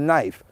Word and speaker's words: knife: the is it a k in front of knife oh it's silent so if it's silent